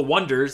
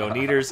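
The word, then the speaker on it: Oneders: become they're called the Wonders and they become one hit wonders the oners it's spelled with a one so call them the oers that's it go go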